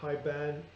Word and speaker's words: Haibane: The Haibane is pronounced the same as high, and then ba as in bat, and na as in next. So Haibane.